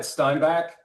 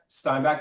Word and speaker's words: Steinbach: Is that the right way to pronounce this, David? You got it. Steinback. Steinback, Manitoba.